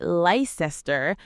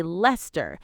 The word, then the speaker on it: Leicester: You say Leicester, we say Leicester.